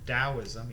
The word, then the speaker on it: Daoism: to talk about Shintoism Daoism you pronounce that t as a d and Confucianism starting with